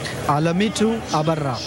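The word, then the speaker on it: Alemitu Abera: And we have the women's winner with me, and I'm going to have the translator give us the correct pronunciation of her name. Alamitu Abara.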